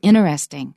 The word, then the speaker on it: interesting: Uchida and notice that a lot of people in America now say interesting I say interesting three syllables but a lot of